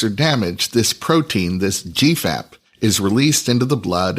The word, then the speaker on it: GFAP: fibrillary acidic protein or gfap pronounced Gap in the blood Gap